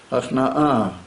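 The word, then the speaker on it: הכנעה: How do you say the word hachnois? Hachna'ah. Like self-surrendering and like self-over-giving of yourself. It's called hachna'ah. When he saw all the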